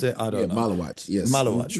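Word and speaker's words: Maluach: pronounce it? I Yeah. don't know. Malawatch.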